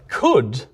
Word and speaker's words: could: stopped pronouncing those L's but we kept the L's in but could never actually had the L in the first place add did aimlessly which